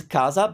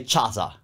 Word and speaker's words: casa: as you can see CA sounds Casa but your instinct would know that you wouldn't look at that and say chaza right there's no way so